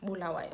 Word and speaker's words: Bulawayo: Okay, yeah, Bulawayo, I'm sure that's how it's pronounced.